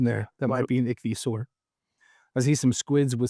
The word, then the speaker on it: Ichthyosaur: Ichthyosaur.